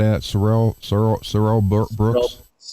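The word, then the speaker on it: Sorrell Booke: Sorel Sor Sorel Brooks. Sorrel Brooks.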